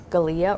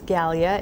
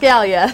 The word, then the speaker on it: Gallia: from Knoxville, Tennessee yesterday asking me how to pronounce our county. And her guess was Galia or Galia. And I corrected her and said, "Well, actually, it's Galia."